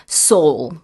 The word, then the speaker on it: sole: Soul. Soul. Yeah. How do you spell that?